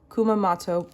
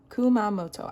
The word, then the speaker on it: Kumamoto: So, let's start with this beautiful one, which is the Kio Sakaguchi on route to Kumamato porton. Hopefully, I said that okay. Kumamoto.